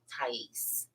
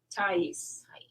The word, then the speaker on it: Thias: Is it Thias? I'll tell you the funniest story about it, but it's Thias. Thias. It sounds New Orleans-ish. It is Greek.